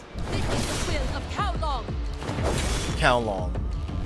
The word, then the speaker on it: Kowloong: This is the will of Kowloong! Kowloong. Kowloong. Oh, okay. There we go. That's easy to pronounce. Brain just had to like think cow and long as in measurement.